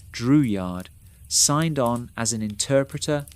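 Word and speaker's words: Drouillard: George Dreward, pronounced Dreward, signed on as an interpreter and hunter.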